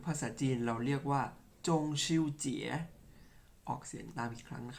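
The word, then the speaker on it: 中秋节: จันทร์ ครับ หรือ ภาษา จีน เรา เรียก ว่า จง ชิว เจี๋ย ออก เสียง ตาม ครั้ง ครับ จงชิว เจี๋ย อีก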